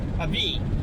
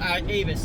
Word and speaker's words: Avis: Avis. That's how they say it. Now they don't. It's not Avis that way, but it's Avis with the S being silent.